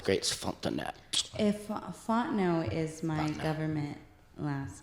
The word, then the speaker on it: Fontenot: It's French, so it's a very beautiful name when it's said right. Fontenot.